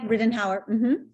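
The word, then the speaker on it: Ridenhour: of the two 2011 ryden hour full prize am i pronouncing that right yeah riddenhauer with an hour all right uh the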